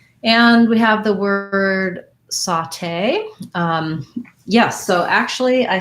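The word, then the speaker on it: sauté: what i found was the way i pronounce it i saw this in some dictionaries is saute so this a you is like the same a you in the word cot sounds like ah and then in the dictionary you'll see this symbol for that ah sound saute saute it has second syllable stress because it comes from the french so my tay um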